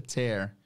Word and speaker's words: tear: importante vocês saberem porque tem a palavra tear também que é lágrima Mas aqui a pronúncia tear que é o rasgar they will tear the